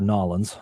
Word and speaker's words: New Orleans: years ago this is when it was in New Orleans or nawlins depending on how you say it so okay